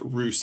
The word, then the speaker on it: Roose: Um and uh the name is pronounced Roose actually Dr. Roose um he mentioned that